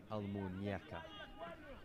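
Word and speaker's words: Almuñécar: Almuñecar. Get the pronunciation right on at least something.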